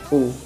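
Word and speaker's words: う: तो गाइस इसे हम बोलेंगे ऊ। लिखेंगे हम इसे यू, लिखेंगे हम इसको यू, और प्रोनाउंस हम ऊ करेंगे।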